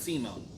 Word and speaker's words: Simon: And as a reminder, it's spelled Simon, but it's pronounced Simone.